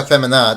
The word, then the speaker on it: Femenina: For the second time in a row, Ecuador hosted the Copa America Femenina. That's how it's pronounced.